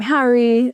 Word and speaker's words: Hari: Chris, then it became Hari, and I don't think it was ever Hari, which is the correct pronunciation, Hari Krishna.